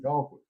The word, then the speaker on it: Colquitt: You better not call it Colquitt down here, because they'll tell you real quick there ain't no coal in Colquitt.